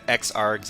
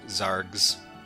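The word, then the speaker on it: xargs: zergs x Oh, it's Well, you pronounce it xorgs. I pronounce um the X as a as a Z sound for Zs. But uh but yeah, anyway, XRS Zorgs.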